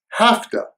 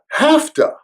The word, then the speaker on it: have to: to study harder by the way the usual pronunciation of have to is hafta hafta have to have to my doctor told me